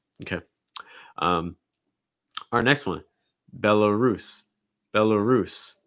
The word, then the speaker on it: Belarus: um our next one belarus belarus stressing at last syllable belarus belarus um followed